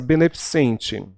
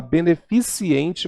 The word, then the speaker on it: beneficente: compressor de português né olha essa beneficente principalmente aqui em Manaus que nós temos um hospital chamado Beneficente Portuguesa as pessoas costumam falar beneficiente portuguesa calvície a as pessoas falam